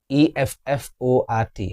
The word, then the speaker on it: effort: E F F O R T. How do you pronounce this? It is effort. It's incorrect. It's effort. Effort. The schwa sound again here.